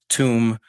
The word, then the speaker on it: tomb: Then we have laughter and after you have a word like tomb which rhymes with room but not with comb.